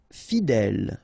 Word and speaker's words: fidèle: Fidèle. Final E, not pronounced, so accent grave here. L, fidèle. Fidèle.